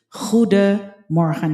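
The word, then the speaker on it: goedemorgen: Ang pronunciation niya ay parang ho de mor parang ganon pero sa pero officially it's huda moran mas maganda na kasi na i-train niyo yung yung pronunciation niyo sa simula pa lang yung hindi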